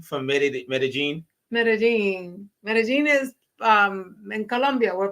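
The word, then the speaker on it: Medellín: From Medellin.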